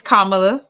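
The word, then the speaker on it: Kamala: it now um and let's pronounce her name right it's kamla um KLA okay and listen I'm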